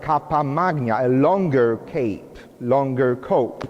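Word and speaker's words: cappa magna: beautiful new outfit from the 14th century called kappa magna it's spelled c-a-p-p-a and then magna and kappa magna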